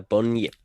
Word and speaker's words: Bunyip: His name is the Bunyip. The Bunyip, indeed, and The Bunyip. Kind of rhymes with turnip, but kind of also doesn't.